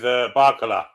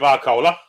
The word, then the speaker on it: Barcola: I imagine it'll be Barcola. Indeed it is. He played like fucking roller cola today. Christ. My mum's cola. Rhymes with polar.